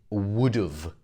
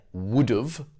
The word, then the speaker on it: would've: in the contracted form i said would've and that's the way we pronounce it so if you ever hear would of then it would have